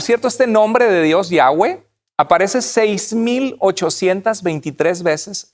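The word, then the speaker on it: Yahweh: cómo se pronunciaba y la mayoría de los expertos bíblicos nos aconsejan como cristianos pronunciar el nombre de dios como yagüe entonces yagüe sería el nombre más correcto en vez de las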